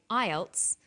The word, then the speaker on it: IELTS: is called an acronym with an acronym we don't pronounce the individual letters we pronounce it as a word so we say IELTS not I al t